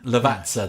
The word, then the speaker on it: Lavazza: well by the way apparently it's lavasta uh Lavazza that's it the vatsa that's it that's how it said levats yeah yeah sorry yeah I've always been saying levanza I've literally been saying it wrong my entire life uh but uh well